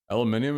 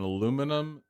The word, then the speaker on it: aluminium: say he was raging aluminium is typically used for science stuff and aluminum aluminum is for common stuff aluminum different spelling which gives them different pronunciation even though they refer to the same thing so you say aluminium when you want to sound smart that actually makes perfect sense smart people just add a syllable to everything it's crazy